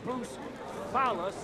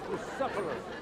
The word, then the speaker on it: Bucephalus: What kind of name is Bruce Phallus anyway? It's pronounced Bucephalus. You know, just mispronounce the name, and we're not talking about a horse.